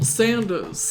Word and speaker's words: Sanders: I'm forever going to call him Colonel Sandels. It's Colonel Sanders.